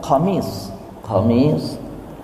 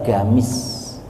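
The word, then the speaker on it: قميص: Jadi kenapa disebutnya gamis? Karena sebagian orang Arab itu tidak menyebut qaf. Itu qaf itu dibacanya go, ghain. Jadi qaf itu bahasa harian mereka dibacanya ghain. Jadi qamis jadinya gamis, gitu, ya, itu.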